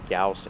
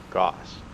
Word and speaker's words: Gauss: Now just so you know, yes, it is pronounced Gauss and not Gauss.